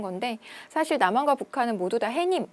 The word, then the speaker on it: 해님: 사실 남한과 북한은 모두다 해님이 라고 표현하는 것이 맞습니다 햇님이 아니라 해님 그대로 발음상의 변화가 일어나고 있지 않기 때문에 사이 숀 넣어 주지 않는다 따라서 정답은 1번 된다는